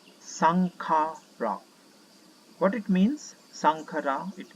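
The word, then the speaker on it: Saṅkhāra: And in Buddhism, there is one word called Shankara, and it's pronounced as Sankhara.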